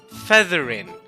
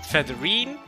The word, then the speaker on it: Featherine: that for me that her name is actually Feathering not featherine like how I thought it was or feather rhyme which could have been